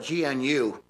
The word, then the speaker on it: gnu: Because our neighbor next door had this big thing, you spell it G-N-U, I guess it's pronounced new, but he called it a GNU.